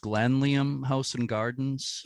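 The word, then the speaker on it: Glanleam: You have the is it pronounced Glanliam House and Gardens? Glanliam House and Gardens, yeah, because of on the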